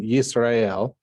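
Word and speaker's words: ישראל: When the accent moves to the latter part of the word, so for instance, here in Yisrael, the accent is almost always on this last syllable.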